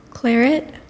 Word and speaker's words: claret: Bordeaux wine District of France Claret am I pronouncing that correctly say it again Claret that sounds correct to us Claret c l